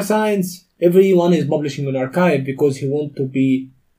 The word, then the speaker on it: arXiv: So, you know, archive. Mm-hmm. So that is spelled as?